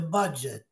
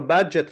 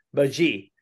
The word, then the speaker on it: budget: lì sono pronunciate male per esempio loro loro budget lo pronunciano baji i tedeschi i tedeschi lo pronunciano alla francese cioè lo chiamano baji Sì non so quindi